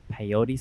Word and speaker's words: peyote: So can you talk about more of this peyote ceremony? How do you pronounce it? Peyote.